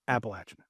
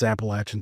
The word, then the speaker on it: Appalachian: It's Appalachin.